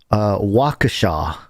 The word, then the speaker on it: Waukesha: I believe the pronunciation is Waukesha.